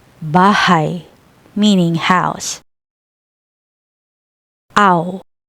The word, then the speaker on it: bahay: I, like the English word why. Example, bahay, bahay, meaning house.